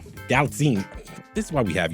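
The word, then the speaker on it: Galitzine: Gallatine. Gallatine.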